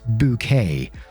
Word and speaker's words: Bucket: up appearances and the main character's name is called hyacinth bucket but she insists is pronounced bouquet and she's basically a